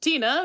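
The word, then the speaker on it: Tine: But Tina, which is spelled like Tyne, is a name brand in Norway, and that's his favorite one.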